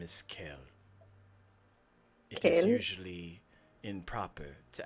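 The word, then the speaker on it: Kael: do you spell that kale with a K and the A and the E and the L Ah that's nice like a kale salad like a kale salad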